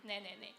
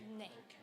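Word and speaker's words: 네: um Koreans say there to every question ne what's the meaning it means yes yes or I'm hearing I'm listening to you okay ne it's more like I know it sounds like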